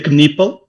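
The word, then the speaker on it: Knueppel: Primeiro, em relação ao nome, ele pronuncia Kipple.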